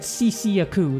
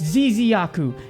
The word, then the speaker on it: Ziziaku: I said Ciciaku the first time I ever pronounced it. Then my friends on Void Chat were making fun of me and saying, it's Ziziaku.